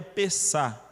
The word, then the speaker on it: Pessach: passar por cima o termo hebraico aqui é pesar se escreve pessach ch no final mas o que